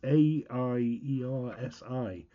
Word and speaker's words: Aiersi: I'll probably get the name wrong. Is that Aiersi? Aiersi? It's Aiersi, and it's the Aiersi SU-044T concert ukulele.